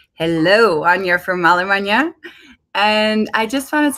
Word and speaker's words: Anja: like a and J a is spelled Anya and that's alpha or